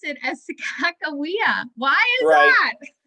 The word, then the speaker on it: Sacagawea: it wrong but i i learned to pronounce it as sacagawea but um you're probably pronouncing your your pronouncing is probably more correct than mine there's there's several ways to pronounce it and there's at least three ways to write it and clark wrote every one of them wrong i'll just say he